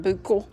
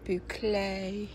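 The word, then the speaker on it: bouclé: the boucle type yard looks like buco but it's pronounced boucle I still love these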